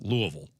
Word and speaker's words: Louisville: I grew up and it was Louisville. That's how we did it in southern Illinois. Louisville, Kentucky. Then I went to Louis Louisville and they said, "No, it's pronounced Louisville."